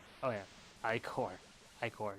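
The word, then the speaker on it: ichor: topple chalice I can fill it with magical occur that's pronounced oh yeah i corps hike or not occur choose your i corps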